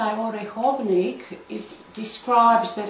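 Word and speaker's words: Orechovník: And how do you pronounce that again? This is the Orechovnik and the This cheese.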